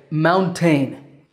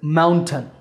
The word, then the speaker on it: mountain: I sometimes hear my English students say mountain, but that second syllable is ton, maybe because it takes a ton of work to climb to the top of a mountain.